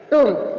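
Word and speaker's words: tomb: टूम, टूम means मकबरा, यहाँ एम के बाद बी साइलेंट है।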